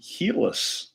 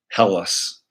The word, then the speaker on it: Helus: But ironically, they pronounce it Helus. But if you didn't know that that's how they pronounce it, you could easily say Hellas, right? Or Hellus.